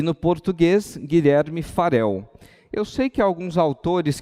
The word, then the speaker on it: Farel: ele Aqui como Guilherme Farel com um R só da forma correta como se pronunciar em língua portuguesa entrando já na sua